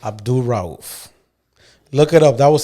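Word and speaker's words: Mahmoud Abdul-Rauf: Mahmoud Abdul Rauf. Abdul Rauf.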